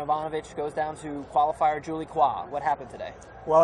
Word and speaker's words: Julie Coin: goes down to qualifier Julie qua what happened today well I guess Julie qua or Julie coin as her name is spelled in Anglo is coin of the